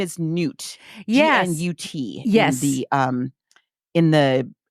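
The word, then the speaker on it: Gnut: So I listened to an audiobook and how'd they pronounce it? Gunt. And I'm like, no, it's G-N-U-T. It's Newt.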